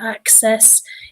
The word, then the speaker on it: access: Whenever you see 2 C's together, like here, access, it's always an X sound. I know it looks like a S sound, but it's an X, access.